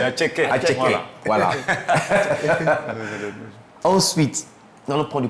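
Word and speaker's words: attiéké: Déjà on va prendre notre atcheke, voilà la marque ivoirienne. Là, tu as bien prononcé, la bonne prononciation. Ah oui, c'est atcheke.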